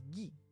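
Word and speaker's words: ぎ: You pronounce this as Gi.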